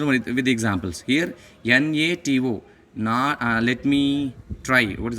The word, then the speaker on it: NATO: I pronounce it like a word. A NATO member here. NATO member.